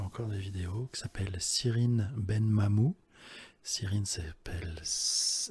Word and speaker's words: Cyrine Benmamou: Et il y a une nana, donc je ne sais pas si elle fait encore des vidéos, qui s'appelle Cyrine Benmamou. Cyrine ça s'écrit CYRI2NE, Ben Mamou, M-A-M-O-U.